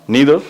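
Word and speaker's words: neither: अब देखिए जनरली हम यहां पर देखते हैं तो क्या लिखा हुआ है, नीदर या फिर नाइदर, आप जैसा भी बोले, नीदर भी प्रोनाउंस करते हैं जबकि नाइदर भी चलता, कोई इशू नहीं है।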